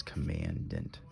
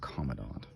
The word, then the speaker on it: Commandant: And for those of you that are pronouncing it wrong, it's Commandant, not Commandant.